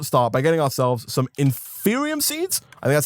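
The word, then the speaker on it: Inferium: need to first start by getting ourselves some in Furion seeds and that's how it's pronounced these guys right here there are six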